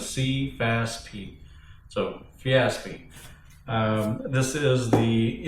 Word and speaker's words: Sefaspe: The pronunciation is Sefaspe.